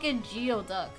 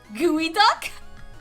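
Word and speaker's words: geoduck: of geod duck the CL the clan Lam being like what is it again gooey duck like how else are you supposed to pronounce this is that not geod duck isn't that a Pokemon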